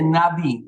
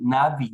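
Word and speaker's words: נביא: entonces profeta en hebreo profeta en hebreo quiere se dice navi navi no se escribe así como está aquí no estoy escribiendo en español pero se dice navi no tiene tiene a un par de consonantes ahí navi y en plural en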